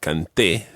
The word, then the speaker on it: canté: business of cantó and canté in the preterite tense? You've got to put the stress on the last syllable so that they're different from the present tense.